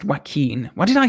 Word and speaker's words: Joaquin: yeah it's so crazy that it works it's pronounced Joaquin what did I say did I say yeah